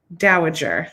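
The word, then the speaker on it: dowager: Daajager.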